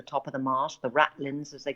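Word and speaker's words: ratlines: of the mast the rattlins as they call it it's pronounced r you know rattlins but it's spelt rat lines and the best way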